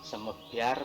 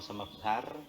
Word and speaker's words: semebyar: Misalkan Belambangan, misalkan Banyuwangi, kemudian ada yang umlaut namanya misalkan ulo, umyah, misalkan gitu ya, semebyar bukan semebar, dan lain-lain.